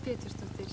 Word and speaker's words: Petursdóttir: How do you pronounce it? Linda Petursdóttir. Petursdóttir.